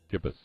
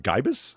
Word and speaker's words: gibbous: hit the little fucking speaker button so it pronounces it for us. Oh, Gibbous. All right, fair enough. How did you think it was going to come out? Gibus?